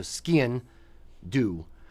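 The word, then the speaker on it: sgian-dubh: try to my the trick I use for skin do is say it like skiing but leave off the last G so skin do um for that one but it's it's it's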